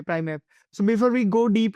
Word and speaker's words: Primev: going in all the I think it's pronounced Prime V or how we how we Prime F okay okay Prime F so before we go